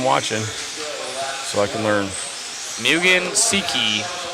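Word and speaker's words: Mugen Seiki: Mugen Siki is the way that I was learned to pronounce it.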